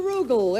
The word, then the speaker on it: Rugal: it I'm not sure Rugal it rhymes with Google ah at least that's